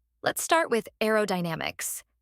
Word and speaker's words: aerodynamics: say let's start with aerodynamics this word has five syllables a o damix make sure to stress the third syllable Dynamix another tricky word